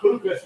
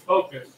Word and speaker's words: FOKOOS: It's not FOKOOS, it's FOKOOS. Like FOKOOS. FOKOOS in America, say FOKOOS, like the FOKOOS of camera, that's how you pronounce it.